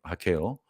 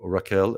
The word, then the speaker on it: Raquel: This is an album that Matti produced for his wife Raquel, or Raquel as it's spelled in English, and it's taking his songs and singing them in Portuguese.